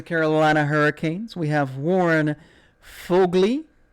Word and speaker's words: Foegele: First up from the Carolina Hurricanes, we have Warren Foegele. Kind of like Mowgli, but Foegele.